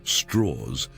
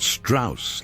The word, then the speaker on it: Strauss: Louis Lichtenstein Strauss pronounced Strauss. He insisted his entire life, not Strauss like the Viennese composer, was born in Richmond,